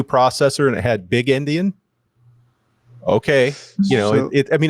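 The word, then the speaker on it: endian: Um, little Indian, just because that's what everything uses. Uh, and and it was just pointed out to me that this sounds like the word Indian, like as in a Native American or someone from India.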